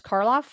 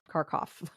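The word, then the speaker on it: Karloff: not mention Boris um I always say his last name wrong it's car car Boris carof caroff anyways he and carof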